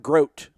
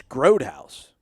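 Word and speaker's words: Grothouse: wrong i apologize parker it is literally growed like g-road g-r-o-a-d all caps dash house so it's not groat otherwise it groat like rhymes with throat no man it's it's groad house is it really yeah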